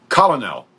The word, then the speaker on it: Colonel: But he said Colonel. I don't even know what that is. Well, it was Colonel Hogan.